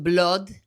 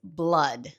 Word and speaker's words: blood: No es blood ni blood, es blood.